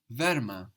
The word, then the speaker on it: wärmer: To say warmer, we say wärmer. Wärme. This is because adding the ER very often will add an umlaut, will add two dots.